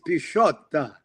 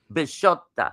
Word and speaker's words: Bisciotta: Sure, it's Bisciotta. Bisciotta. Like prosciutto cheese.